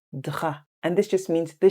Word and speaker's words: drap: Please note the P is silent, so it's not le drap, it's le drap.